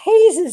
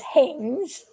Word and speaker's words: Hayes: And I pronounced Hayes' name as Haynes.